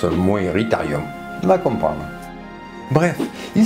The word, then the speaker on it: Moeritherium: Coelophysis, ça se prononce Coelophysis, Coelacanthe, c'est l'acanthe, Moeritherium, Meritherium, ma foi, peut-être. La bête du lac Moeris. Ah, ben ça se prononce Moeritherium, on va comprendre.